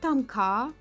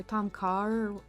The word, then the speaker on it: tom kha: I like tom kha or tom kha. I think it's tom kha, pronounced that way, but it's my favorite of like the Thai soups.